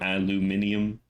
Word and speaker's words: aluminium: Yeah, but if it's British, it has an extra I in it to make it ium, right? Not instead of aluminum, aluminium.